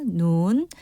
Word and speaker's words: 눈: 눈. 제가 길게 발음하는 이유가 우리가 보는 눈은 짧아요. 그런데 하늘에서 내리는 눈은 깁니다.